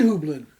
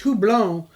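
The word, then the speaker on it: houblon: yeah by the way he's pretty mispronouncing it on purpose it's hublon and that's french for hop this aswafe hublin is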